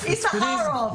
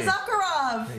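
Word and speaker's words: Issacharoff: writer of Fauda, Avi, I'm going to say Izakharov, because that's how we say in the States, but it's Izakharov. How do you say it? Almost, almost. How do we say it in Hebrew? Izakharov.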